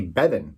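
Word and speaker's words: Beavan: Also, Jenny Bevan is how you say her name.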